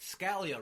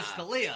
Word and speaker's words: Scalia: Now, You pronounced Scalia wrong. Yes, it's actually Scalia.